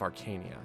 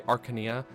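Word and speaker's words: Archanea: conquered the continent of Arcania some people say Arcania I don't know Arcania just sounds more correct to me but AR I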